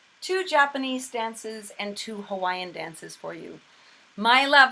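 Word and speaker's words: Hawaiʻi: about the pronunciation of hawaii and the w is either a or a soft sound and the eye has an okina or an apostrophe between the two eyes which is a glottal stop so it is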